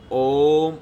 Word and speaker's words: ഓം: നമുക്ക് പ്രത്യേകിച്ചൊരു സാധന പദ്ധതികളും അറിയില്ലെങ്കിലും ഓം നമഃ ശിവായ അത് ജപിക്കുമ്പോൾ എപ്പോഴും അതിൻ്റെ ഉച്ചാരണം എപ്പോഴും ഓം എന്ന് പറയുമ്പോൾ തന്നെ അത് മണിപ്പൂരംഗയിൽ നിന്ന് തുടങ്ങണം.